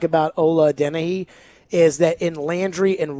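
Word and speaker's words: Adeniyi: Well, Adenehi, he's not, I got to pronounce his name right. Caroline, how did you do that? Ola Adenehi.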